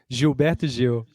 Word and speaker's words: Gilberto Gil: Gilberto Gil. Gilberto Gil. Okay, so Gilberto the Gil. G Yes. is rather than a hard G in UK, it's like a J.